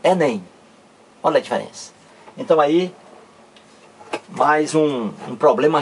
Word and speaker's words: Enem: do que está aqui eu não pronuncio cada letra separadamente não eu não digo é NM eu digo Enem então aí mais um